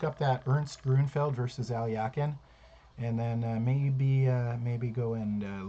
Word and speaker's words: Alekhine: A lot of people call him Alekhine, but I found out that his name is actually pronounced Alyakin.